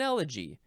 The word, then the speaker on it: elegy: What is an elegy?